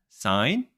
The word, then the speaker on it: sin: you'll see down here it says sign you pronounce it sign that's it God bless